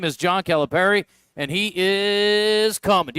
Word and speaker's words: Calipari: Well, I think if you do it Italian, it's Calipari.